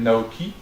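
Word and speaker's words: NAOqi: Et Aldebaran a mis en place en fait un middleware qui s'appelle Naoki, qui se prononce pas qui d'ailleurs, qui se prononce chi, qui veut dire l'âme normalement.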